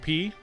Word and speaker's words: pi: Um, apparently the Greek letter is more correctly pronounced P.